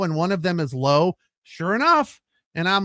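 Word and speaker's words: Lowe: one pronounces it Lao come on it's low L we is low if you want your name to be Lao it's l auau right it's not L we it's low and low it's always low can't stand why people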